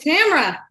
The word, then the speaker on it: Tamira: It's Tamira. I like it. Good old Scottish name. You've been on several times before, so everybody knows you. They know you, yes. Tamira.